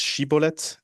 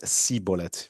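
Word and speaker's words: שיבולת: asked them to pronounce Sheibbolet, and the Ephraites couldn't pronounce that and pronounced instead Cibolet because they could not pronounce the correct shin in Hebrew and Sheiblet.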